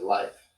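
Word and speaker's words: Leif: L E I is life and L I E F would be leaf.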